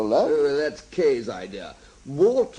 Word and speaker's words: Wart: Wart more or less rhymes with Art.